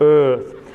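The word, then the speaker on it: Eaarth: with the extra a you have to kind of Channel your inner Schwarzenegger to pronounce sort of Earth um um and the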